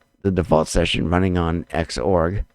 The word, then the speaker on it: Xorg: default session running on xorg or zorg if you want to pronounce it that way and cinnamon on whand